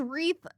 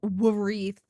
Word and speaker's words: wreath: Yeah, what the Why the is wreath? Why does it have a W, bro? There's There's no wreath. Why is it silent?